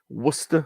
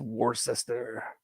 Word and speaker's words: Worcester: and it's P.O box1011 Worcester as we call it in England or as you probably pronounce it in the state's War sister uh wr1 9en in